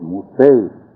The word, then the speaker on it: Mosay: As my dad first came here, they call him Moose, but his name was Mosay.